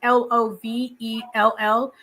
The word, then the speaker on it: Lavelle: It's with a gentleman called Lavelle Sykes, I think is how his name is pronounced. It's Lovell.